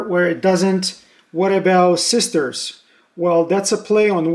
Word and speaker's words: 6TERS: What about sisters? Well, that's a play on words and pronunciations.